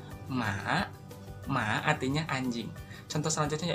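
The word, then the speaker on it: หมา: Nah, kan kalau misalkan dibaca hohibnya jadi gak enak ya, misalkan hema, hema, gak enak ya. Jadi hohibnya tuh gak dibaca, jadi dibacanya ma, ma, artinya anjing.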